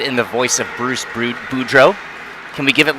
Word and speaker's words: Boudreau: say the name Bruce Boudreau. All the credit in the world to the Capitals broadcast team when he was a coach. But like any French word, you just don't pronounce the last 3 letters, right?